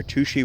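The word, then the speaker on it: Touchet: owned by Florida Power and Light it's near to she Washington and that is how you pronounce it I know it's spelled touche near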